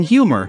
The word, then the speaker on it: humor: english than in french in english the h is a full consonant and is not heard only when it is silent in words like honor but in humor you must pronounce the h clearly after making